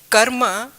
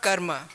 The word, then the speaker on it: karma: You said about the karma being very a different vague version in Western world. In Sanskrit, we pronounce this word karma, not karma.